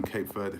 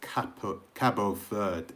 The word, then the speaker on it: Cabo Verde: Your thoughts on Cape Verde? Cape Verde? I keep calling it Cape Verde. That's what they say in England, but it's Cabo Verde, isn't it? That's how you say it in Portuguese.